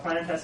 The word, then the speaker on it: Planetes: Planet Tess is spelled Planetes. It's actually you'll see it often spelled in Greek.